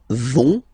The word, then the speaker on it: vont: So ils vont, final T not pronounced.